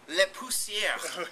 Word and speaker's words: Le Pousseur: Can you please pronounce it for me? Le Pousseur.